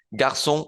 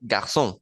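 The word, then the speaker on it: garçons: formar el plural pero esa s no se pronuncia De hecho no va a cambiar el sonido de la palabra en la mayoría hay unos casos particulares entonces garson garson suena igual cómo sé yo si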